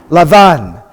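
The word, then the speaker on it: לבן: We got the Lamed, the Beit without the dot, sounds like V. And we've got the Nun at the end. We've got two kamatzes. How do we pronounce that? Lavan.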